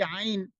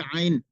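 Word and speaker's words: ع: এরপরে উচ্চারণটা হচ্ছে র র র। এরপরে যে অক্ষরটি আইন, এই আইন অক্ষরটা আর হা, এই দুটা অক্ষরটায়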